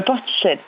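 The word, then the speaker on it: Portishead: J'ai pas bien compris le nom du groupe euh ported qui peut se prononcer aussi mais voilà c'est une ville en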